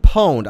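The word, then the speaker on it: PWND: that makes it, but it's called Poned. I'm not sure how many you guys have actually heard of this game. It's spelled P W N D.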